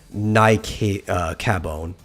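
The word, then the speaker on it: Naecabon: using the username um i want to say this is pronounced like the latin so nike uh cabon uh it's n-a-e-c-a-b-o-n has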